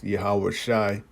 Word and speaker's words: Yahawashi: it says, Jesus, okay, which we know the real name of the Heavenly Father's Son is YAHAWASHI, That's how we know the name. That's the correct way to say it.